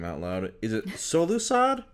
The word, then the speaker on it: Solusod: said someone's last name out loud is it solusod how do you say your last name so lusad yeah got it gotten one cool uh nailed